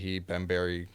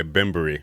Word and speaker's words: Bembury: there's that much sleigh ben berry croc by the way bimbery just so you guys know no it's okay it's